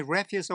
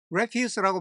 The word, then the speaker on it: refuse: 뭐를 맡기냐면 to sweep my refuse away. 우선 여기는 발음을 주의해야 되는데요. refuse라고 발음하면 쓰레기라는 뜻입니다. refuse는 거절하다고 refuse는 쓰레기예요.